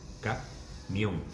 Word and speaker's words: camión: Esa palabra, ojo, tiene dos sílabas, ¿eh? Camión, la última sílaba es muy larga, son cuatro letras, porque hay un diptongo. De todas formas, da lo mismo, porque acaba en N y la sílaba tónica hasta el final, por tanto, llevaría acento. Correcto.